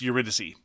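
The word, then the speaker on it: Eurydice: Flick Fleet is designed by Jackson Pope and Paul Wilcox and published by Uridice Games. No, you're pronounced Uritysy. Urity Dice Games.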